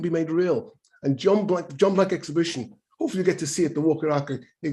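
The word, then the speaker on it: Blanke: Is it Blank? Blank, B-L-N-K-E, Blank, John Blank.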